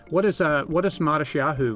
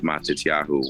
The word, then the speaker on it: Matisyahu: You may have been given a Hebrew name, but we just went with Matisyahu, which is the Hebrew. And then in the Ashkenaz pronunciation, the t is pronounced with the sa.